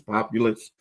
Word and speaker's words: Populous: You know, it's funny before they announced that I guess the the pronunciation is populous, you know, the the firm that they're going to that they hired.